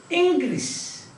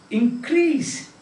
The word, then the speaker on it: increase: that insult fifth one increase verb increase now increase you cannot increase the height of a person a major person fully grown adult you cannot increase his heights isn't it